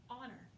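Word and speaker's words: honour: Word number two, honor. This one's kind of weird because you don't pronounce the H at the beginning, so it's got a sneaky silent H.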